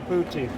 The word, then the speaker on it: poutine: Poutine. How do you pronounce it?